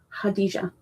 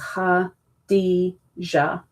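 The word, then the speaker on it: Khadijah: Hadijah. K is silent. K H A D I J A H.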